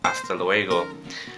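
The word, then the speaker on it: hasta luego: And to say until next time or see you then, it's aasta la vista or aa leego.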